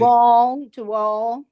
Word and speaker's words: Djwal: It looked like it's hard to pronounce. It's DJWAL. That's his first name. And Dewall.